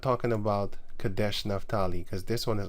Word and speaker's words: Kadesh: spelled different I think it was spelled kadash Kad Kash no it's Kadesh Kadesh and um naftali